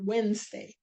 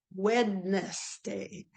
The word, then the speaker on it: Wednesday: struck by the word Wednesday and I thought to myself we go Wednesday but it's spelled wedness day and and then I tried to say it faster wedes day Wednesday Wednesday and that was